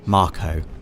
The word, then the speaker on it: Mako: a Mako reactor Dave officially pronounced Marco right but I've always I've wood pronounced it make officially it is Marco doe and you can